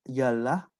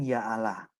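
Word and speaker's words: يا الله: Allah bentuk munada seruan pengucapannya bukan Ya yalah melainkan Ya Allah kenapa seandainya tidak ada huruf hamsah dalam kata aslinya menurut tabarasi niscaya pengucapan hamsa tidak dibenarkan sebagaimana dalam kata-kata lainnya jadi ini yang Saya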